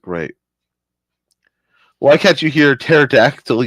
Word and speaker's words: pterodactyl: why can't you hear pterodactyl using the restroom the p is silent now see that's classic